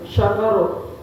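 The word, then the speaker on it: شَكَرَ: Ada kata dengan shin besar, syakaro, ya, syukrun, atau dengan sin kecil, sukrun atau sakaro, ya, ada syakaro, ada sakaro. Maka itu ketika kita beda mengucapkannya atau beda membacanya, maka akan berbeda juga artinya.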